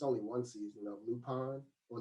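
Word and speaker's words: Lupin: the first season it's only one season of lupon or lupone as they call it l-u-p-i-n that's how you pronounce it lupo yeah i've been saying looping the entire time yeah well that's what americans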